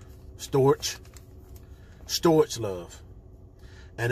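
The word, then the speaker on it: storge: It's called, pronounced storch.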